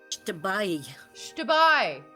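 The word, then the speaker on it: Xtabay: Shtabai. There's a little E sound at the end. It's a diphthong.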